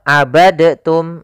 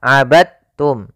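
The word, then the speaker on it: عبدتم: dalam membacanya eh maaf hati-hati jangan dibaca abadtum ya tapi langsung dimasukkan ke ta abadum bukan abadtum ya Meskipun Dal termasuk huruf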